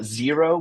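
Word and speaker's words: Xero: accounting suite and uh zero but it's expel it's spelled x e r o it does work with zero does work yep does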